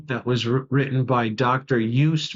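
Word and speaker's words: Joost: there's a book that was written by Dr UST merlu UST is spelled uh j o o s t and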